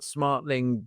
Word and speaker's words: Smartling: Brian, why don't you tell us what Smartling does and your actually have I got Smartling right?